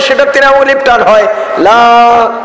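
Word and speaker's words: لا: ইল্লাল্লাহ, লা ইলাহা ইল্লাল্লাহ, লা ইলাহা ইল্লাল্লাহ। লা তিন আলিফ টান, লা কয় আলিফ টান?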